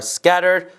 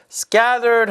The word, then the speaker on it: scattered: It must be fall because the leaves are scattered on the ground. scattered 하면 여기저기 흩어져 있다는 얘기예요. 마찬가지로 T 발음이 scattered가 아니라 scattered, scattered, 리을 발음처럼 되는 것이 캐나다, 미국 사람들 발음의 특징인데요.